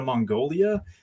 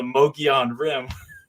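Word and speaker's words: Mogollon Rim: arizona and they're like you're going to mongolia like no no no the mogean rim yes so yeah but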